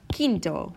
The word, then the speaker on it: quinto: it's just K not quick okay okay or quinto which means v v like i'm fifth in